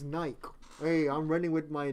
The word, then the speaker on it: Nike: The shoe with the arrow, it's pronounced Nike, not Nike.